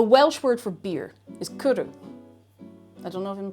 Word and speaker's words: cwrw: The word has no vowels, at least not as we would recognize them in the English language. Cwrw is spelled C-W or W, because that sound is in there already.